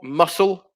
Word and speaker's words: muscle: o um number four muscle so it's the c that is silent for number four uh